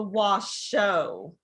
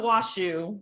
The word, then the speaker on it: Washoe: It is the Washoe, not the Washoe. Yeah, we say it all wrong.